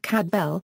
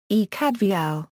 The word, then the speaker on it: Cadfael: name cadar Lis Peters intended the F to be pronounced as an English V and suggested it be pronounced cadal although normal Welsh pronunciation would be ecad Vel the name is commonly